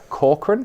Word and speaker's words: Corcoran: On FinTech Insider interviews today, I have the pleasure of being joined by Corcoran. Did I pronounce that right?